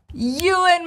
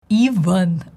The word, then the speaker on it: Ewan: In Russian, they transliterate it as Ivan, like Ivan, Vanya, but it's wrong. The correct version of his name is Ewan, and the transcription shows it to us.